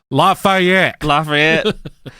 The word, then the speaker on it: Lafayette: Lafayette.